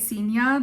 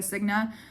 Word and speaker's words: Signa: between death and Sena that's how you say it Sena the whole time I read it a Signa um I am terrified